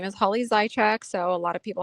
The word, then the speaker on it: Zajicek: Well, my name is Holly Zyek. So, a lot of people have a hard time pronouncing the last name when they see how it's spelled.